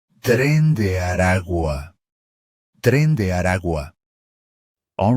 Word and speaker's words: Tren de Aragua: from Venezuela is pronounced Tren de Aragua. Tren de Aragua. The letter G in the final word is pronounced very softly, as it sits between two vowels. Tren de Aragua. Tren de Aragua.